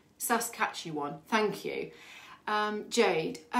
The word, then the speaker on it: Saskatchewan: lovely someone's told me how to say it sas catch you won saskatchewan thank you um jade i have a question